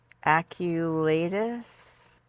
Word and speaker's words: aculeatus: So I've got hibiscus, aculeatus, or is the C soft? No, it's got to be the hard C.